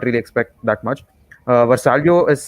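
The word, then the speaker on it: Vrsaljko: good you can't really expect that much uh versalio is vasalco how is that that's how you pronounce it yeah so so yeah i think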